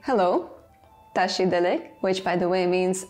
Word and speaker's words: བཀྲ་ཤིས་བདེ་ལེགས: So to say tashi delek, you write bkra shis de legs.